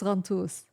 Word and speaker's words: Ghantous: I said it incorrectly. Did you say In the Ghantous? beginning. I said Ghantous. Ghantous in the beginning. Yeah, it's So okay. if you want to say it properly, it's Ghantous.